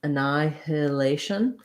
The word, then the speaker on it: annihilation: a like vowel it just says a schwa so it sounds like uh an eye so this will have some secondary stress a little bit of length and a clear vowel on that ni syllable letter i does say the i diphthong so uh i'll write it this way anai like knight anaya um and then annihilation no h basically anaya um so this is